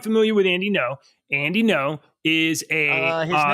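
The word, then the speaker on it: Ngo: with Andy no Andy no is a his name is how do you NG yeah NG is pronounced as an N it's no yeah no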